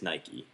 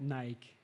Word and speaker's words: Nike: So my first pick is Nike.